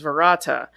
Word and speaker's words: verata: day or Stood Still but a slight variant in the word he pronounces the second word as verata apparently this is intentional as the wise man is also heard saying the words this way when instructing Ash on